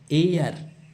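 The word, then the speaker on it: heir: इसके पीछे आर्टिकल लगता है एन क्योंकि इसमें एच क्या है? साइलेंट है। इसमें एन की ए की ध्वनि आ रही है। एयर एयर ये एच ई आई आर में एच साइलेंट है।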